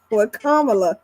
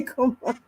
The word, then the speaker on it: Kamala: No matter how many times you say they keep they keep saying just like what Kamla, they just got to say Kamala.